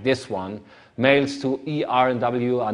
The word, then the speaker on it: ERNW: This is the company I'm running, ERNW, and even for Germans, pronouncing ERNW is a bit, say, a little bit difficult. Most people tend to say ENRW, not ERNW.